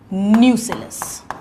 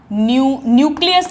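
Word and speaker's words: nucellus: So this is न्यूसिलस. न्यूक्लियस नहीं, spelling ध्यान दीजिएगा, न्यूसिलस.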